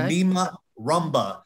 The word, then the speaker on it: Nima Rumba: And spelled like it sounds. Nima, N-I-M-A. So Nima, then Rumba, R-U-M-B-A. Okay. Nima Rumba.